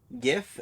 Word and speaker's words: GIF: Yeah, did you know that GIF, GIF, is actually, an Old English word? Really? Mm-hmm. Do you know how it's, pronounced?